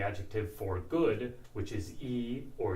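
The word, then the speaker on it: いい: for good, which is e or yoi. Basically, e is a modern pronunciation of the original adjective, which was yoi.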